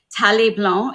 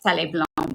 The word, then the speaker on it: Thaleblanc: Tale Blanc is the mother brand, I want to say, is the first brand that we've had first brand that I launched. It's spelled THALEBLANC. That's Tale Blanc.